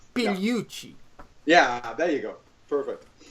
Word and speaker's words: Pigliucci: or something like that maybe you should pronounce it for good measure is that closeing enough Puchi the G is basically silent Puchi yeah there you go